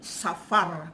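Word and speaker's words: ספר: dalam bahasa di datang bahasa ibraninya adalah berbunyi Safar ataupun tulisannya capar ya tapi dibaca Safar atau seperti buat Kalau bahasa Inggris seperti sofa gitu ya tetapi membacanya soft gitu ya Nah artinya apa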